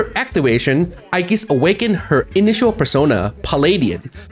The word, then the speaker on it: Aigis: Her original Japanese name is officially written as Eegis referencing the mythological shield of Athena. However, the Japanese pronunciation resemble Aigis which led to the English localization adopting that spelling.